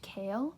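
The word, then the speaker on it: Chaol: but I believe you his name is pronounced Cale and honestly I like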